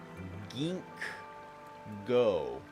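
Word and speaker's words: Ginkgo: or gink go Guild I think I've been pronouncing this incorrectly the whole time gink go I don't know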